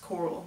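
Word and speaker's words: Carl: Yes, Coral, that's how it's pronounced.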